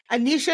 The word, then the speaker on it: Anisha: And oh my goodness, Anisha, is that how you say it?